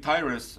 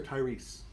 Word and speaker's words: Tyrus: Was it Tyrus or Tyrese? No, this is a T-Y-R-U-S. Okay, just wanted to make sure your name was pronounced.